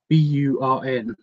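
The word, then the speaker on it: Torbjörn: It's like TU, and then B. It's T. Basically, it's TUBURN. So if you just like, that's what the pronunciation phonetic thing says anyway.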